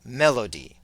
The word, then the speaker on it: melody: earlier the word Melody we said that the accent is on the first syllable Melody da da da da da Melody